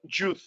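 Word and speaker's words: יוד: también va a haber unos que le digan Yud en vez de Yod.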